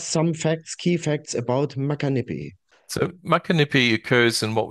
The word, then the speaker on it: Muckanippie: abundance But let's have a look at your Macanipi Did I pronounce it right project Yeah Macanipi is the right pronunciation Did very well there Here we are